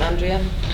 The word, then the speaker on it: Andrea: surviving women like Andrea, or Andrea, I believe she pronounced her name, Andrea. We always say Andrea in Ireland, so I'm not being rude.